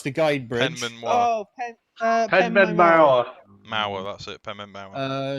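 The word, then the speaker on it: Penmaenmawr: I cannot pronounce the guide bridge. Penman Oh, Penman Mauer.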